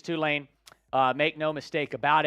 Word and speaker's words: Tulane: you would know this it's not Tulane it's Tulane it's Tulane it is too lame it is two lane uh make no mistake